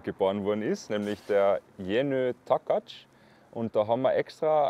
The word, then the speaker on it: Jenő Takács: Wie spricht man diesen Jenő Takács? Jenő Takács.